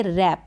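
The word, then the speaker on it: wrap: रही है यह स्पेलिंग लेकिन हम डब्लू को फ्रंट यूज नहीं करेंगे जब साइलेंसर रहेगा और इसको हम रीड करेंगे रैप क्या करेंगे रैप रैप का मतलब होता है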